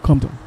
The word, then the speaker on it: Compton: So the P is silent. Just said Compton. Simple as that.